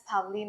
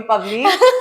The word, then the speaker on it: Pavleen: But now I got to know it can be pronounced as Pavleen as Pavleen. well. Yeah. Pavleen, no, please call me Pavleen. In Russia, maybe we can say Pavleen. But no, in India, it's Pavleen.